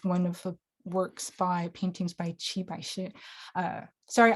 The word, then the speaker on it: Qi Baishi: And then here is one of the paintings by Qi Baishi. Sorry, I keep switching my pronunciation between Mandarin, which is Qi Baishi, or Cantonese Tai Ba Se.